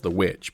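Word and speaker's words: The VVitch: i've still not seen the vich um as i call it known as itch yeah it's no it's known wildly as the witch but since it's spelled the vich i i prefer to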